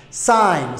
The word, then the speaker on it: sign: by oo ay raacday n n haddaad aragto is silent way aamusan tahay tusaale g dan waxa raacay n g da laguma dhawaaqayo sign signi ha nagu dhihin okay sign g da si